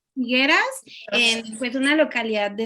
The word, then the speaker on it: Figueras: Nació en ¿cómo se pronuncia? Figueras. Figueras, en pues una localidad de España.